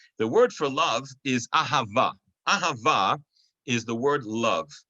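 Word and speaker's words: אהבה: most standard form the word for love is ahava it is spelled with the hebrew letter aleph the hebrew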